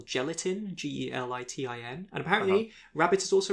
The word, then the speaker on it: Gelitin: Rabbit was by the Australian art collective Gelatin, Gelitin. And apparently Rabbit is also referred to as Haze, but it's spelled Hase, and I have no idea what that means.